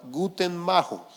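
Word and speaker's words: Guttmacher: organización que se llama guten Majo así no se escribe pero así se pronuncia Y no es que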